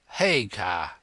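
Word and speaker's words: Haigha: His names His name is Hagar. He pronounced it so as to rhyme with mayor.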